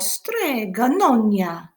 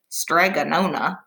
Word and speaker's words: Strega Nona: our story today is called strega nonia and you always have to say it like that you can't say strega nona because that doesn't sound very fun you have to say estrega in your best italian accent because our story has